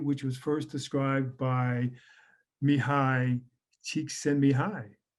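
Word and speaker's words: Mihaly Csikszentmihalyi: was first described by mihai cheek send me high okay if you need a little mnemonic to get you to pronounce his name very difficult name but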